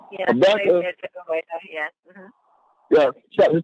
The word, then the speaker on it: Habakkuk: It say Habakkuk. Am I saying it right? Habakkuk.